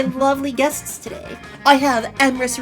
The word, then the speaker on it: Emrys: I have Emrys Rhymes with Abyss and ErisvonJabberwock.